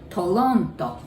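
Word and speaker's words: トロント: don't have our sun in japanese so you pronounce it like el right tolonto how about vancouver that's the city i lived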